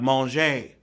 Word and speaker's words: manger: It's sure not pronounced the same because when the French are hungry, they start talking about manger, spelled M-A-N-G-E-R, like manger, away in a, no crib for a babe.